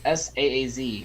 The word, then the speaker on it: Saaz: It's sporting spicy Saaz hops, Saaz to be precise.